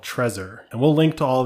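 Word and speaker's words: Trezor: I want to recommend is a wallet called treaser and we'll link to all these in the podcast description but I'm going to spell it out anyway so t r e z o r Tresor Tresor is really cool because you know Ledger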